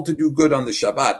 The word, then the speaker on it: Shabbat: be no last so the Shabbat is how they pronounced it in Hebrew the Sabbath all right and that's